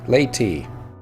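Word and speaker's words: Leaute: Ah, laity. That's how it's pronounced. Laity, not lute. I guess they use silent. And so's the E, and the A is long. Laity.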